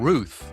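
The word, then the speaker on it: Routh: The second one was Ryan Ruth. It is pronounced like tooth.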